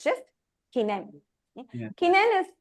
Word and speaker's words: kinen: spelled the same, but the pronunciation is a little different here. It's kinen. Kinen. That n sound is very soft. Kinen.